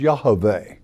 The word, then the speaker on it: Yahweh: Our Father's name in the manuscripts is Yahweh, okay? That is the Hebrew pronunciation.